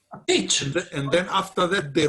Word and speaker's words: Pietzsch: It's called Pietzsch. Pietzsch.